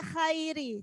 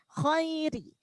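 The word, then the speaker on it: الخير: Nah, kha itu huruf tebal, jangan sampai khairi, jangan sampai khairi ya. Khairi, tebalkan, khairi. Jadi kebanyakan kadang orang-orang itu bacanya khairi, khairi. Padahal khairi, tebal.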